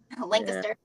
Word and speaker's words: Lancaster: Like I'm not far from Lancaster, however you pronounce it. It's Lancaster. Lancaster.